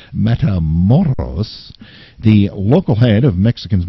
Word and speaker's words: Matamoros: I pronounced it correctly. Matamoros.